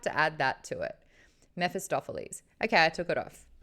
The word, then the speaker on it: Mephistopheles: Mephistopheles? I feel like there's another syllable in there.